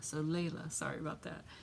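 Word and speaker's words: Laila: she tells me I'm sorry my name is pronounced Layla so Layla sorry about that how long have I had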